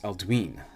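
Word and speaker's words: Aldwyn: Aldwin is pronounced Aldwin because of the long vowel sound on the Y.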